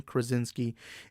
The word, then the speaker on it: Krasinski: major but as of now i think john kronz is key why do i keep mispronouncing his name john krasinski is going to play mr fantastic for this